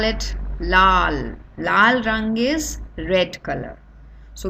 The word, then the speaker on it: लाल: So the first one is red color dress, red color apple, so we call it lal rang is red color, so we always pronounce it as lal.